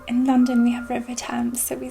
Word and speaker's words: Thames: London we have River Thames, so we say Thames. I don't know what they pronounce it like there.